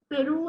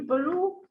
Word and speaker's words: Peru: And then also someone mispronounced Peru, it should be Peru.